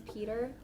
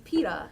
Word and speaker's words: Peeta: I didn't know that his name was Peta. I thought his name was Peter. And they were pronouncing it in an English accent until I like saw it on paper.